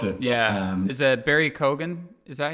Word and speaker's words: Keoghan: Is that Barry Keoghan? Is that how you say his name? Yes, Barry Keoghan. Keoghan.